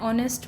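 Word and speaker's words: honest: जैसे एन ऑनेस्ट मैन तो ये एच नहीं बोला जा रहा है। क्या बोला जाता है? एन ऑनेस्ट ऑनेस्ट एन आर आर।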